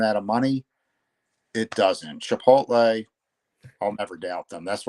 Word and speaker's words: Chipotle: had meta IBM Ford you do you pronounce it chipot or chapot uh Chipotle Chipotle okay so uh where are